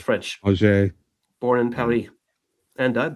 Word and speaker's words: Auger: Manuel saying it's pronounced with a J, so it must be French. Yeah, it's French. Auger.